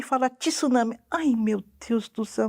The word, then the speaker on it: tsunami: mesma coisa digo com tsunami né aquele onda gigante que causa destruições esse não é tsunami é tsunami é isso tem que ser pronunciado em uma leva S não é e uma sílaba única acho que cabe naquela